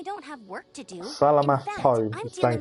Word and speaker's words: Salamat: Salamat, not Salamat. Yeah, Paimon Oh, remembers. okay, so it's When we pronounced first met, Salamat, you were clearing out but one it's of their spelt camps.